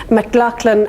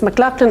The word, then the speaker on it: McLachlan: and a trademark attorney mclachlan and donaldson i always say that name wrong but it's mclaughlin and donaldson from dublin